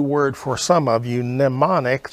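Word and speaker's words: mnemonic: for some of you nemonic the m is silent um it is pronounced like it starts with an n and it means an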